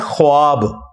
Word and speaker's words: ख्वाब: शैतान नहीं आ सकता अच्छा ये लफ्ज लिखने में है ख्वाब ख व अलिफ बा लेकिन पढ़ने में यह खवाब है व साइलेंट हो जाता है ख्वाब पढ़ा जाता है यह लफ उर्दू में